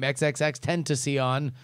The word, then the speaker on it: XXXTentacion: year old rising star who pronounced his name xxx tend to see on his real name was